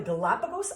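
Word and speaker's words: Galápagos: the den right well in the Galapagos we're going to emphasize the second syllable we're gonna say Galapagos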